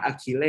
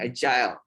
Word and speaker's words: agile: Ini bacanya bukan agile ya, nih agile sih jenengnya edan, tapi ini agile.